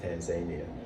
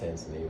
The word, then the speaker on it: Tanzania: I actually just got back from Tanzania. I thought it was pronounced Tanzania, but it's actually pronounced Tanzania. Yeah. So I've been saying it wrong for a while.